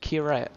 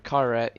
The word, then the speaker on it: Kyrat: And it is set in the country of Kyrat, or Kyrat, there's different ways to pronounce it, but regardless.